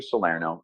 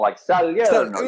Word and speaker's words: Salierno: So it's Salierno, not Salierno. You see, you're pronouncing it the correct way. See, you're doing it the traditional, Salierno. You're saying it with the music. That's beautiful. I appreciate it. Okay. I've Americanized it since.